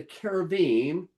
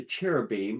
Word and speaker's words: cherubim: And if you remember, the cherubim, or what you might know as the cherubim, but it's pronounced with a K, a keruv, is a type of angel.